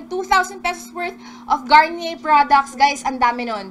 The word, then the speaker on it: Garnier: kasi hindi ko rin talaga sure, sabi niya Garnier. Ayun. So, ayan. Speaking of Garnier, second word is on the screen na, guys. Second word, hula-hulaan nyo na para manalo kayo ng 2,000 pesos worth of Garnier products.